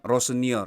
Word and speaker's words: Rosenior: Ini teman-teman coba dengar pronunciation Liam Rossonier itu seperti apa ya. Liam Rossinier. Tuh, kalau di Google bilangnya Rossonier.